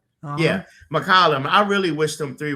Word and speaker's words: McCollum: Yeah, McCollum.